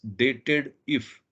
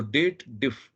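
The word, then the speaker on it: DATEDIF: if formula is there they should read it as dated if but technically this is a date formula so we must read it as date then little bit pause and if so date diff is the right pronunciation for this formula so now over here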